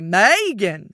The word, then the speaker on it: Meghan: My other grandmother would call me cuz she's a very southern lady and she would say Megan. So, all of the emphasis was on that very first syllable.